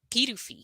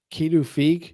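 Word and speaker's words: Pituffik: recently the actual name of it is uh kidu kidu it looks like K to me which would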